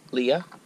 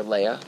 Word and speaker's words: Leia: We got Princess Leia, or Leia. Depends on which Star Wars movie you see as to how they pronounce it.